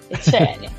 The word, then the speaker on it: Etienne: Não, brasileira mesmo, Etienne.